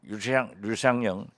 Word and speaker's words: 류상영: 그래서 저는 우리 류상영 류씨라고 그러더라고요. 버들류. 예. 네네. 그런데 류라고 발음한다요.